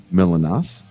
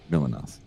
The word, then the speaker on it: Milonas: Please welcome a very patient man dealing with my power problems, MILONAS. Am I saying it right? You're saying it all right. Hi, Jason. It's actually MILONAS in Greek, but yeah, I've heard MILONAS, MILONAS.